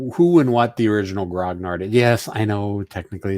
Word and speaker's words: grognard: history uh behind who and what the original grognard yes i know technically it's supposed to be pronounced gran yard but i am neither english nor french i